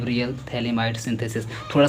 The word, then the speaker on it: phthalimide: थे limit synthesis इसका नाम है कि रियल थैलिडोमाइड सिंथेसिस थोड़ा सा लोग स्पेलिंग यह ध्यान दीजिएगा थैलिडोमाइड में यहां पर